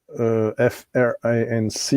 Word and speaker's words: Franc: Franc, F-R-A-N-C, you don't pronounce the C at the end.